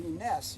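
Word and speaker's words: Kness: Percy Ness, you don't pronounce the K in his name.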